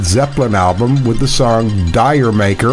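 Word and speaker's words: D'yer Mak'er: album with the song dire maker or jamaer as they pronounced it in English thus reggae music Dion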